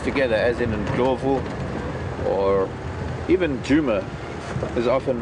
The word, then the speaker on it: Djuma: as inov or even Juma is often mispronounced as you don't pronounce both of the vowels or rather the consonants separately that's like the Juma